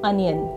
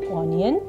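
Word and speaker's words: onion: यस, इसको सही से बोलने का तरीका है अनियन, और इसको गलत बोला जा सकता है ओनियन, ओनियन। तो ये गलत बोलने का तरीका है जो अक्सर हम बोलते हैं।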